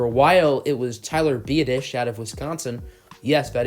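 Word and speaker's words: Biadasz: to school for a while it was Tyler via dish out of Wisconsin yes that is how you pronounce his last name and it seems like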